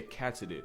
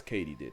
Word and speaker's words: katydid: Turns out it's katydid, as in did Katie do it? Yes, Katie did.